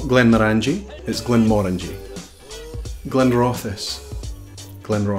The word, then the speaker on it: Glenmorangie: not Glen levy that would make you french Glenmorangie it's not Glenmorangie is Glenmorangie blender office blender office so here